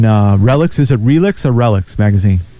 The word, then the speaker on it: Relix: Is it Relix or Relics magazine? It's pronounced Relics.